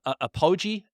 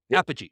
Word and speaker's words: Apogee: to pronounce it wrong Matt is it a apoi apy apogee apogee okay which is and so